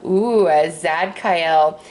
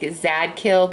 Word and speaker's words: Zadkiel: And I say it like that because I know it's like Zadkiel, but I don't like saying kill, and I know I could say Kael, so that's why I'm saying that. For those of you who